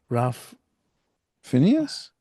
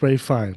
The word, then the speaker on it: Ralph Fiennes: Ralph. Phineas? No, it's the Voldemort. What's his name? Rain Yeah, but Fiennes. Ralph Phineas. Oh, is it Ralph Phineas? Yeah. Yeah, well, it's Ray Fine.